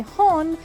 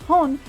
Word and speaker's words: HxxG: that this figure is based off of by hon which is how that hxg is actually pronounced it's pronounced hone but it actually highlights what's really interesting about